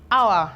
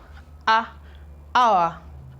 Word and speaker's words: hour: This is not hour, it is hour.